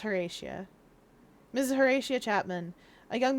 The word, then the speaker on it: Horatia: I tried to pronounce that Portia for a second, like Hortia, but that's Horatia.